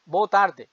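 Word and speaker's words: boa tarde: আর শুভ মধ্যান্্য good afternoon ইংরেজিতে শুভ মধ্যান্য বউ তারদে বউ তারদে আর রাত্রিবেলা বিদায় সম্ভাষণ হিসেবে গুড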